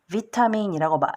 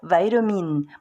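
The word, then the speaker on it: vitamin: 예를 들면 비타민이란 단어를 말을 할 때 정확히 비타민이라고 읽는 것이 또는 말하는 것이 의사소통이 훨씬 더 잘 될 수가 있습니다. 억지스럽게 바이타민 이렇게 하는 것이 오히려 더 혼란을 불러일으킬 수 있어요.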